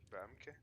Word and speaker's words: Bumke: Bumpky. Right. Um, Bumpky. it's dialect. In dialect, we pronounce it as Bumke. Okay. Has a slightly different pronunciation.